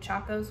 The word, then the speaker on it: Chacos: No, you actually said Chacos right.